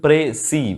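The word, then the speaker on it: précis: এর উচ্চারণটা কিন্তু প্রেসি, মানে যেভাবে আমরা উচ্চারণ করি জেনারেলি ঠিক সেরকমভাবেই, তবে শেষের যে এসটা আছে না, সেটা যদি প্লুরাল হয় তখনই উচ্চারণ হয়।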